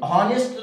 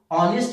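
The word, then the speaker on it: honest: जिनको ये पता नहीं, दोबारा से सुनिएगा, जिसको ये पता नहीं कि भाई इस ऑनेस्ट में एच क्या है, साइलेंट है, वो हॉनेस्ट कर देते हैं, जिन लोगों ने बिल्कुल पढ़ा ही नहीं।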